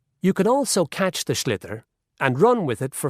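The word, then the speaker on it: sliotar: this ball called a schlitter that's s l o t a r so it's not spelled the way it's pronounced you hit it into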